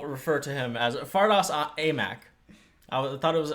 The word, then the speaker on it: Aimaq: Big Maple, as we'll refer to him as, Fardaws Aimaq. I thought it was Amik.